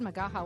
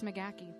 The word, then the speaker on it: Magaha: that's not it is how you pronounce it I said Makaha when I married him yeah but it's McGee wacky McGee wacky McGee is you both yeah